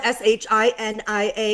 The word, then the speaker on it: Shinia: It's spelled S H I N I A.